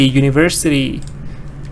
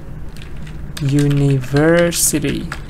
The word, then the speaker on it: university: Good, publicity, university. Where's the stress? University, publicity. So stress here is universe, stress is on the first part, universe, but now stress is here, university.